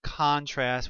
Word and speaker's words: contrast: that's a noun and it's pronounced contrast with the accent on the first syllable but the word contrast